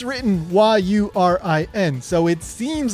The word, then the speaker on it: Yurin: Well, in Japanese, her name is pronounced Yurin. That is Yurin with a long U vowel, so it's Yurin.